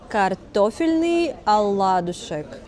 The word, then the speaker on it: картофельный оладушек: So, in Russian it's called картофельный оладушек.